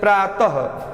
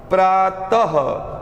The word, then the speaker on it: प्रातः: इसका उच्चारण हल्के ह की तरह होता है, जैसे प्रातः, प्रातः, जब हम प्रातः बोलते हैं तो लास्ट में 2 बिंदियां आ जाती हैं।